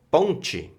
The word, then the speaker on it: ponte: Entonces tenemos la palabra ponte. Vamos a decir ponche. Aquí. Ponche. Ponche. Ponche. Y ahí fíjate que cambia bastante.